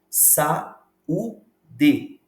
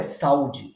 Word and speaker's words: saúde: a sílabas diferentes exemplo sau de não é saúde é saú de exemplo